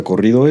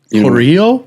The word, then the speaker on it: corrido: So this song is like, I don't know if you know what a corrido is. Corrido?